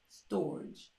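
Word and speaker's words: storge: type of love now I may be pronouncing it wrong but it's s-t-o-r-g-e storage we gonna call it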